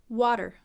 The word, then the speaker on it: water: wha-wha so even though it's spelled with an A it's a short oh oh oh wha and then that flap T sounds like a deep dip the tongue hits the roof of the mouth quickly and then we have that are controlled or derp derp da derp water water let's try